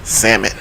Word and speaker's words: salmon: But salmon. Yeah, he said salmon. The L is silent, but so even when I correct myself, he still got to shoot the.